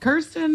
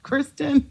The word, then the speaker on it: Kirsten: I'm not Kirsten. I'm not Kristen. I'm Kirsten.